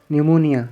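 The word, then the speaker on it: pneumonia: plague न एबाई मर्ज न्यूमोनिया यहां प साइलेंट फेफड़ों का वर्म पोलियो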